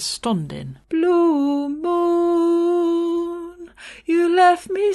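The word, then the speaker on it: stondyn: alone is spelt s-t-o-n-d-y-n so not so much standing as stundin blue moon you left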